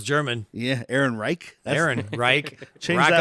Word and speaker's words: Ehrenreich: Yeah, Ehrenreich. Aaron Reich. Change Rock that on. last name, dude. It's actually pronounced Alan Reich.